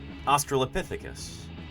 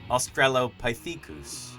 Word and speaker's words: Australopithecus: me that, you know, in the U.S., we would pronounce this creature Australopithecus. The French pronounce it Australopithecus.